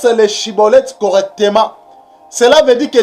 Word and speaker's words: Schibboleth: Donc pour ne pas être saisi, il faut bien prononcer Shiboleth. Il ne faut pas prononcer Siboleth.